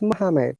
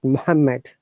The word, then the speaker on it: Muhammad: One M should be omitted. So it is Muhammad, not Muhammad.